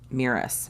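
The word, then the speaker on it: Mirus: being called back to meerus miras is how you pronounce it uh it's a it's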